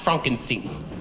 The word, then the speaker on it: Frankenstein: That's Frankenstein. My name, it's pronounced Frankenstein.